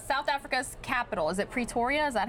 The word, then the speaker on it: Pretoria: In South Africa's capital, is it Pretoria? Is that how you say it? Yes, Pretoria.